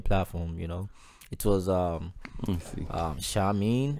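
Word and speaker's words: Seamin: It was Shamin, it's spelled S-E-A-M-I-N.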